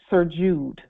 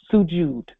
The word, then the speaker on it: Sujud: It's called Surjud. Surjud. I hope I'm pronouncing that correctly. Thank you for that nobility that inbox that information. Sujud. Sujud.